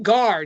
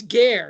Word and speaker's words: ger: Is it Gar? No, it's Ger. It's G-E-R, but it's pronounced like, the Roman E there.